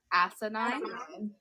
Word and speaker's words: asinine: This is just, and I have no idea how to pronounce this, so it's as s I N I N E. Asinine.